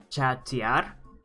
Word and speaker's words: chatear: Gamma Bear, just remember it's chatear. So remember it's where the break in pronunciation is for each syllable is.